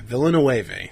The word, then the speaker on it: Villeneuve: Yeah, Villeneuve.